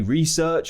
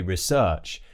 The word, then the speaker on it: research: Do we say research or do we say research? And technically it should be both. So if it's a noun, it will be research. For example, it's a research paper. But if that person is doing this, then we would say, for example, he will research the topic.